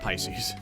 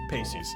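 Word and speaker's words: Peixes: a joke lighten up Pisces wait Pacey's sorry Pacey's I always mess up the pronunciation of that name Pacey's it spacious yeah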